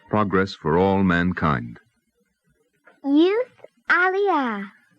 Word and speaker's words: aliyah: Youth aliyah.